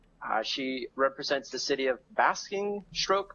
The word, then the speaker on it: Basingstoke: She represents the city of Basingstoke. Am I saying that right, Arosh? Basingstoke. That one. You're saying it wrong.